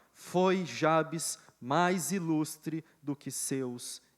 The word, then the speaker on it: Jabes: 1 Crônicas capítulo 4, versículo 9 e 10 diz assim: Foi Jabes, ou Jabez, vai depender, né, da sua pronúncia, mas eu opto por Jabes, tá bem?